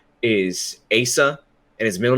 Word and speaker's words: Asa: by the name of Asa Butterfield. Which it amazes me that he's at all famous. It's not pronounced Asa. No, it's Asa. It's Asa Butterfield.